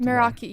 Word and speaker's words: Meraki: Am I pronouncing it right first? Meraki, yeah.